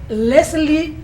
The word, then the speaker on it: Leslie: me cuesta mucho pronunciarlo se escribe Leslie pero se pronuncia lesli eh as que vamos a conversar con la doctora lesli Batista médico veterinario quien se